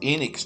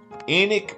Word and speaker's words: Enoch: locals who did inform me that the correct pronunciation was Enix daily and not Enoch Staley enik Rufus Staley was born here in Wilkes County on April 8 1918.